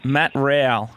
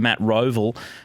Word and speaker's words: Rowell: I called him Matt Roval, the suburb out east in Melbourne.